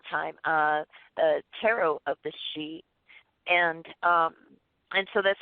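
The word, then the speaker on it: sidhe: che you're going to hear a shape Dana she you know these are different ways coming from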